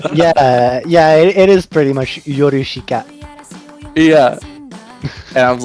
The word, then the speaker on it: Yorushika: yeah, it is pretty much Yorushika. Yeah. And I was like, every time I pronounce it, I probably said it like as white as possible. Yorushika, you know?